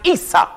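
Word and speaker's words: عيسى: a brother named Esau in Arabic Esau is pronounced Isa mhm isau in Arabic the name isau is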